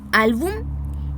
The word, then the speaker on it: álbum: Reconocemos entonces la carga de voz, o sea, la sílaba tónica, aquella sílaba que recibe la mayor carga de voz. Reconocemos que está en la penúltima sílaba y vamos a ver